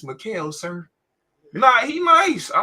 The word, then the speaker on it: Mikal: How the fuck you pronounce his name? Isn't it Bridges? Mikal Bridges. Yeah, Mikal Bridges. Yeah. My boy said Michael Bridges.